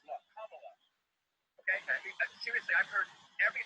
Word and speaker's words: Kamala: Her name is pronounced comma, like the punctuation mark love. Kamala. Okay? Seriously, I've heard every sort of accusation. So what? That's how it is. Kamala.